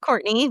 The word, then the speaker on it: Courtenay: It's pronounced Courtney, but I spell it like Court.